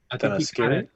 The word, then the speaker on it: Themyscira: How do you pronounce that? Themyscira.